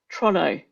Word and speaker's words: Toronto: But what we didn't realize was that there's another pronunciation of Toronto, Trono. They call it Trono, which is a different set of IPA symbols because it's a different pronunciation. And so we're marking this exam, and people would have Toronto, and then they'd have Trono, and we're like, actually, we have to mark this as correct because that is actually how they pronounce Toronto, Trono.